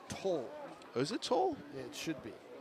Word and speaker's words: Towle: Yeah, the name is Toll.